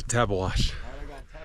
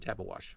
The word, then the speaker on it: Tabeguache: Gotta head to Tabeguache.